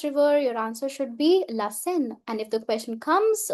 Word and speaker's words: Seine: Many students often pronounce it as Seine. Ce n'est pas correct. It's la Seine, la Seine.